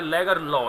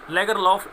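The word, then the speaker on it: Lagerlöf: तो स्टूडेंट्स देखिएगा, ये जो अभी एक्सेंट है लेगरलॉ, यानी कि एफ यहाँ साइलेंट होता है यदि हम स्वीडिश एक्सेंट की बात करें, लेकिन हम अपने इंडियन एक्सेंट में इसको प्रोनाउंस करेंगे तो हम बोलेंगे इसमें सेल्मा लेगरलॉफ। लेगरलॉफ इंडियन एक्सेंट है और लेगरलॉ एफ इसमें साइलेंट होगा, ये होगा स्वीडिश प्रोनाउंसिएशन के अकॉर्डिंग, राइट।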